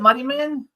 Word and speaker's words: Muddyman: Is that how we pronounce it, Muddyman? That is how you pronounce it.